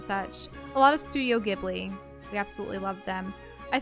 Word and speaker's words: Ghibli: castle on the sky he's a kid Lee or GD I think I think the correct pronunciation is Ghibli but see I was